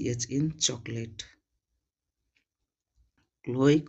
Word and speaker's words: Chloe: ही गुस्सा आता था, जबकि उनका नाम सी एच तो था स्टार्टिंग में बट उसका प्रोनाउंसिएशन क होता था, अर्थात क्लोई, बट सी एच उनका स्टार्टिंग नेम में जो लेटर था उसी के वजह से बच्चे सब उनको चलोई चलोई बुलाते थे और वो उनको